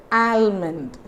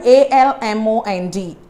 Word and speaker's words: almond: friends so the word a-l-m-o-n-d almond it's very wrong-pronounced these days this is nothing but almond this is nothing but ah mint amen we don't pronounce the letter l here okay so like how